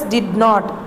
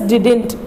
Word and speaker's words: didn't: You should not pronounce it as did not. Okay, children, it's a wrong pronunciation because it was given in short form. So you should pronounce it as didn't.